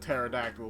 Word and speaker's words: Pterodactyl: And then you have Terrador, because the P is silent. You know, like Pterodactyl was just Terrador.